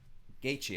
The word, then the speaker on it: Gaethje: Gaethje, I'm sorry. I always pronounce things wrong, man.